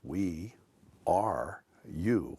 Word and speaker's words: WERU: appealing as the as the alliteration weru which could be pronounced we are you what a great title